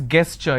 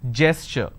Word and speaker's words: gesture: A lot of people pronounce this as gesture. It's not gesture just because the letter G is there. It is gesture.